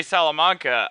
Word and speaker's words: Salamanca: interview everyone with uh my good friend salamanca uh is is did i say your